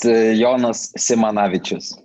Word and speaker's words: Jonas Simanavicius: So what is the exact pronunciation? Because I tried, I've listened. Yeah, it's Jonas Simanavicius.